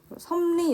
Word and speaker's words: 섭리: 섭리 역시 리을이 니은으로 발음이 나고 있습니다.